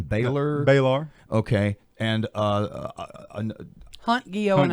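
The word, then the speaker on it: Balar: I don't know the pronunciation. Baylor.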